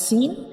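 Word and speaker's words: سين: When we pronounce Sin, we will touch the up and down teeth together like Sin. Sin. We will touch the up and down teeth together to pronounce Sin.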